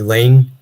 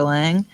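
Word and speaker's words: Laing: Divide Itself by Rd Lang and Lang is spelled l a i n g oh read that Lang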